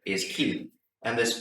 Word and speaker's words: Chi: Greek letter key and some people will say Kai but it's pronounced key Kai is actually a Greek word but the letter is key and this P looking